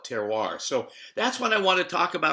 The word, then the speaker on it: terroir: of switzerland and so i love terroir as jose is pronouncing it in the united states we generally put the r on and and call it terroir so that's what i